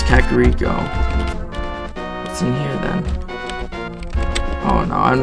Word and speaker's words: Kakariko: human people instead of Kakariko seca kiriko I mean that's just a small thing I mean I heard like one person saying Shakira co before but I know it's Kakariko oh no I'm not